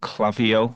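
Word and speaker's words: Klaviyo: There is another platform called Clavio, which is spelled K L A V I Yo, which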